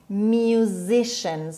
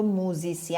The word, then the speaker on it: musician: بچه ها دقت کنید این رو موزیسین نخونیم. موزیسین فرانسوی است، تلفظ فرانسویه که تو فارسی ما به کار میبریم. In English you say musician. C-I-A-N شن خونده میشه musician.